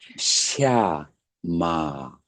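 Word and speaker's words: śama: 있으면 어떻게 되죠 어 위에서 샤 샤 뱀 소리가 나는 거야 샤마 그런 그런 인제 발음이에요 샤마 평화 고요 그런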